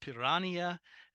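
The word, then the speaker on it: piranha: and yes it's pronounced pirania the H in Portuguese gets turned into an I sort of like if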